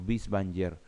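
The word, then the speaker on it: Binswanger: peace one heart o vis banier porque la veedora se pronuncia como be en alemán los vanger elvis banier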